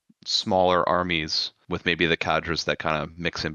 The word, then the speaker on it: cadre: the armies, and the cadre. I actually just realized, I found out that it's a French word. It's actually pronounced cadre, so we're butchering it over here. Just say cadre.